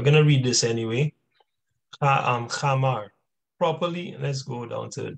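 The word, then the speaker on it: khamar: Now, that's the chamar, all right, which is spelled like this here, right?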